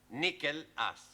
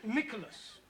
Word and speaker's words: Nicholas: upon a times there was a man called nickel ass it's not quite right no no once upon a time there was a woman called Nicholas it's pronounced Nicholas all right once upon a time there was